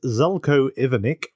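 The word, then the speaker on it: Zeljko Ivanek: I'm pronounce this correctly I wrote down the phonetic version It's Zelo ivanic who played Roland and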